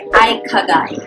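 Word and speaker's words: 生き甲斐: The pronunciation is eye-ka-guy.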